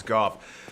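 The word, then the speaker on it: Gough: I await good tidings. Ah, dragon slaying. Knighthood's highest calling. Okay, so now that Goff, I thought it was always go, but he pronounced his name as Goff.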